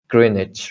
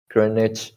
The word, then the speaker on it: Greenwich: because it's always together greenwich mean time right so if you see here greenwich right greenwich there is no w like green witch or something there is no that's right gren niche greenwich greenwich mean time right